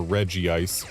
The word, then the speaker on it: Regice: So Regice, or Regice as I guess is the official pronunciation, as much as I dislike that.